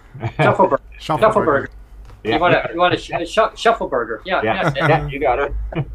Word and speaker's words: Schaufelberger: maybe will pronounce his name. Schaufelberger. Schaufelberger.